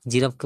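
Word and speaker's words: giraffe: আর এরপরে জিরাফকে বলা হয় GIGRAFFE, জিরাফ। এখানে জি কিন্তু গ উচ্চারণ হয় না, এখানে জি জি বর্গের যে উচ্চারণটাই করা হয়, GIGRAFFE, জিরাফ।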